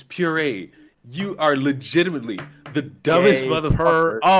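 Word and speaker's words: purée: it's like like Gay Paris you are legitimately a Mor I pronounced it as par no it's puree you are legitimately the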